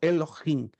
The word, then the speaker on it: Elohim: muitos pronunciam Eloim mas lembre-se que eu estou usando aqui o h para transliterar se você se lembra um pouquinho do hebraico estudamos o h se pronuncia com o som gutural forte então Elohim Deus forte poderoso uma